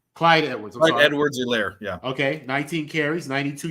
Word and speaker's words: Clyde Edwards-Helaire: Clyde Edwards-Helaire, yeah.